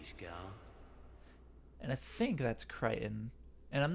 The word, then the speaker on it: Creighton: I think Creighton is how the Merkins say it. And people who pronounce it properly, such as Creighton himself, say Creighton. Anyway, we have no way